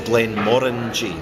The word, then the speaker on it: Glenmorangie: to pronounce it is Glenn Mori so the emphasis on the orange so like orange the fruit yeah okay good and